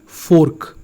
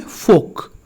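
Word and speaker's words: fork: हम गलत पहले क्या पढ़ते थे, फोर्क। हम क्या पढ़ते थे, फोर्क। सही क्या है, फोक।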